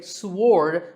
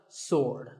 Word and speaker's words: sword: say it is Wednesday what about this word sword many people say sword but that is totally wrong it's just sword and here's one last